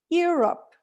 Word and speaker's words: Europe: see six letters so we tend to say europe but the correct way of saying that is europe and how many syllables does it have two syllables right let's do the